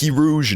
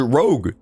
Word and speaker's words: rogue: First Poke Rouge, now this. First of all, Pokey Rouge is not a g a game. Learn how to say the word rogue.